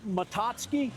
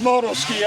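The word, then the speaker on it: Moto-Ski: So is that how that's pronounced? Matoski? All right, so we got a 70 ski horse, 67 Polaris Colt, and a Matoski. No, it's pronounced Motoski.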